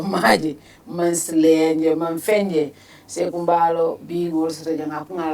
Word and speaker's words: Saihou Mballow: sunkar konto ngolo maji man slenje man fenje Saihou Mballow being also the name pronounced properly, special advisor to the president on political affairs.